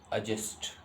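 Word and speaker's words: adjust: ध्यान से सुनिए, ए और जे के बीच का डी का प्रोनाउंस कभी भी नहीं होता है। आप इसको बोलेंगे एडजस्ट।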